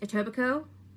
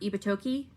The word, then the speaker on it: Etobicoke: note uh it's pronounced etobicoke not ibatoki or ebit coke it's etobico i know there's a k in there it's weird and scarborough kind of